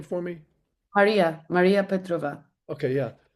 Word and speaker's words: Maria Petrova: course, the inevitable question is where you found Marisa Petrova, is that her name? The little Maria, girl who yes, was Maria. extraordinary. You Yeah. pronounce the name for me? Maria Petrova.